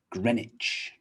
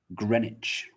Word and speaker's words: Greenwich: say it but no greenwich greenwich so we don't pronounce the w we drop the w green becomes gren and greenwich greenwich famous place in south